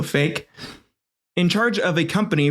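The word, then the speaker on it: Faik: I think that's I I looked up how to pronounce the name I'm pre fi f a i k or Q in place of the K so fake in charge of a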